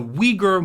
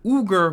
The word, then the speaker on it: Uyghur: I think it's pronounced the Uyghur Muslims or the Uyghur Muslims blindfolded and shackled in concentration camps.